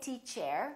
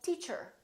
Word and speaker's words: teacher: to her or teacher don't say T chair say teacher she's a good teacher